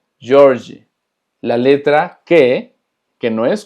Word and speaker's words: Jorge: Se pronuncia Jorge. Jorge.